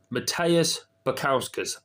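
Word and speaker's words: Modestas Bukauskas: the light heavyweight division we have got Matskus Matteus Picowskus that's how you pronounce it um that's how you pronounce his fighting in the light heavyweight division.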